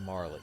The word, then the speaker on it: Marle: It's Marley.